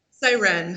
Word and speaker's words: Sirenne: Let's I guess let's just start with I always screw up the pronunciation. It's Siren or Siren? Siren.